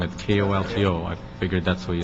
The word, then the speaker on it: Colton: your name wrong at kolto i figured that's what you said how do you say your name got it it's colton you got it right